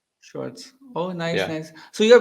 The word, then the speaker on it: Schwartz: right uh you're good uh Schwarz so it's German Schwarz oh nice nice so